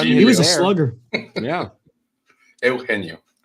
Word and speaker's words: Eugenio: Eugenio is the right way to say it.